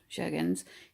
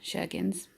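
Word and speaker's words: Sjögren's: But it's an autoimmune disorder, Sjogren's. It's spelled Sjorgens, which, yeah, Sjogren's does, yeah, Scandinavian, I suppose.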